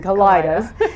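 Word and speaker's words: Kalidahs: But the Kaleidas, and no one really knows how you're supposed to pronounce it, but we're saying Kaleidas.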